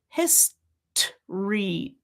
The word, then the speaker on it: history: History, tree, history, history, history. If that's not happening for you, put in that little schwa. It's going to help you with that transition.